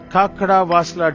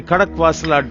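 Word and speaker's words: Khadakwasla: Which institution with the motto Service Before Self was set up near the Kakada Vasla Dam, which is built on the Muta River? I'll get the pronunciation right. It is the Kadakwasala Dam, which is built on the Muta River.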